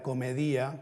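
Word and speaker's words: Comedìa: por la es canción hay que pronunciar comedia que la palabra para entonces es culta con un cian pronunciado a la griega ese es el único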